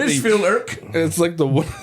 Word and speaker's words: Mitchfield'ke: It's like Mitchfield'ke. it's like the UN. Mitchfield. The KE on the end is silent. We just get a picture of I'm us here in for our, my taxes.